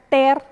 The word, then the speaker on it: tear: Romper se pronuncia ter, lágrima se pronuncia tear.